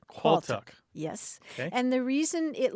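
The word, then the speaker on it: Qualtagh: that word is qual now let me explain it's spelled a little bit strangely it's qu a a l t a g h quck yes and the reason it looks weird is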